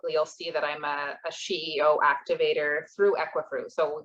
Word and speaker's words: SheEO: Am I Oh, pronouncing SheEO. SheEO?